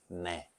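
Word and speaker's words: ναι: Or, en Grèce, « oui » se dit « nay ». Ça s'écrit un peu différemment, « nai », mais ça se prononce « nay ».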